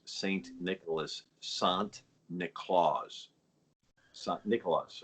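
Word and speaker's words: Sint Nicolaas: had now by the way uh the dutch pronounced saint nicholas sant nicolas nicholas right saint nicholas but sant nicolas and you say that a couple times you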